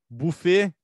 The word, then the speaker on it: buffet: Se tu fosse fazer a pronúncia, como se pede lá do francês e tudo mais, é buffet. Só que tá escrito com U, não tá? Então as pessoas falam buffet.